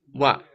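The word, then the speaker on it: は: Этот значок читается как ха в хирогане. Но когда он означает тему, когда он означает индикатор темы, то он читается как ва.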